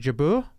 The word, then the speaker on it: Jabeur: I don't know how to pronounce. Is it Jabeur? Yeah, Ons Jabeur.